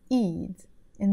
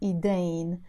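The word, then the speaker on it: إيدين: Eidin, sometimes pronounced as Eidain. So you can either say Eidin or Eidain, or if it's one hand, you say Eid.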